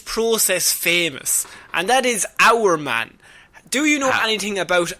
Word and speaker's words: Hour Man: who made this process famous, and that is Our Man. Do you know anything about Our Man?